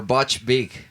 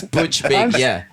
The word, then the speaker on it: Butch Vig: Okay, next one is what you prefer best, Steve Albini or Butch Big? Who's Butch Big? Butch Vig? Yeah. Butch Vig? Butch Vig. Yeah. Sorry for my bad pronunciation. It's Butch Vig.